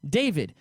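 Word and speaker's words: Da5id: david and i'm pretty i would pronounce his name david you know dia is david but d-a-5-i-d real i just called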